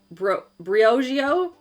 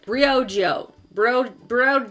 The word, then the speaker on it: Briogeo: The other product I've been loving is by Briogeo? No, that's not right. Briogeo.